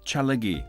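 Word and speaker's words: ᏣᎳᎩ: These symbols, Tja, La and Gi... ..spell Tjalagi, or Cherokee in their language.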